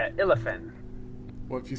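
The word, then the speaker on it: Illefarn: Did I say it wrong? I look at the elf. Am I saying it wrong? What's up? Nothing. I think I'm not really good with these elven words. Oh, it's Illafin.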